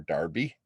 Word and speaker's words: Derby: we're seeing more of this uh with uh joseph wright of derby our darby i think is how it's pronounced in england uh super complex composition